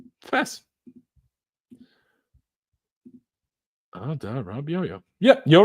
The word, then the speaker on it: Adarabioyo: Tosin's surname can be pronounced easier by trying Adarabioyo. Adarabioyo. Fast. Adarabioyo.